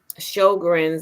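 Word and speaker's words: Sjögren's: And Sjogren's, that's how you pronounce it, Sjogren's syndrome, the mucous membranes and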